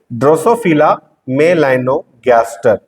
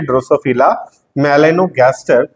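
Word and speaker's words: Drosophila melanogaster: भी लिख दिया ताकि आप इसका सही सही उच्चारण कर सके ड्रोसोफिला मेलानोगैस्टर यही है ड्रोसोफिला मेलानोगैस्टर फल मक्खी और इसी पर लिंकेज के संबंध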